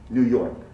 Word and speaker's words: New York: comes from british english the american pronunciation does not have the yell americans will say new new york new york the reason we'll learn in more detail involves the the sounds made with the tip of the tongue sounds like n n and t and d uh american speakers don't produce the yip after those but we do pronounce it